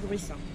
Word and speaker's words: Gruissan: Sí, las salinas de Jurisson. ¿De? Jurisson. Jurisson. Jurisson. ¿Cómo está escrito? Igual está afuera, luego lo miro. ¿Pronunciado Jurisson? Jurisson. Jurisson. Muy bien, muchas gracias.